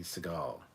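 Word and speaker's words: Sagal: anarchy so donnie pearson the second syllable of her surname is more stressed though if i'm not mistaken katie seagal what is the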